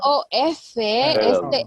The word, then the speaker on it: of: Esta OF, esta OF suena a of. Y vamos a decir off con F cuando digamos apagado. Off. Por ejemplo, the lights are off. Están apagadas, right? But when I want to say this word, it doesn't sound like letter F.